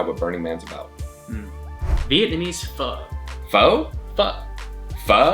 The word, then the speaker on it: pho: Pho? Pho. Pho? It's pronounced pho.